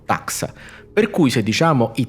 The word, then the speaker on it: taxa: Taxon, che abbiamo citato prima, è un termine greco che indica un qualsiasi livello tassonomico, al plurale va pronunciato taxa.